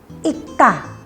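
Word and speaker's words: 읽다: tanda ada cara bacanya di sini kan ada I lalu huruf matinya itu ada dua ada dua konsonan huruf mati ada R sama sama gek tapi yang dibaca geknya jadi bunyinya Ikta realnya hilang ya lalu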